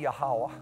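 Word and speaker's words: Yahweh: to say it they made ball to be yahwah which is the most ancient way to pronounce his name and Ashera his prostitute to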